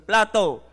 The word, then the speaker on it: plateau: the central plate plateau aan plateau po ang pronunciation plato Okay of Asia minor